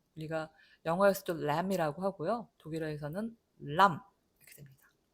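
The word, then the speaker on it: Lamm: 독일어에서는 람 이렇게 됩니다. 자, 영어에서는 여기다 be를 써놓고 묵음을 만들어 버리는데 우리는 그런 거 안 한다. 우리는 쓰면 다 읽는다. 그래서 묵음 be 없고요. 그냥 람 하고 읽습니다.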